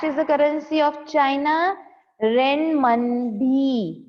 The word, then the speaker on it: Renminbi: Renminbi. Renminbi is the currency of China. Fourth का answer है rain. देखो इसमें मिन भी लिखा हुआ है, पर इसे प्रोनाउंस मनबी करते हैं.